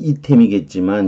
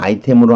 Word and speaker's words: item: 아이템이 원래 이거 뭐 원래 라틴어 발음은 이템이겠지만 영어로 이 단어가 쓰이니까 부사로 실제로 쓰여요. 발음은 아이템이에요.